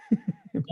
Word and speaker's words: Roig: sí, Es un apellido valenciano o catalán y se pronuncia, quizá conozcas más el apellido Roch. sí, que Tiene el hay, mismo mecanismo, es R-O-I-G, se dice Roch como si sí, acabara en CH.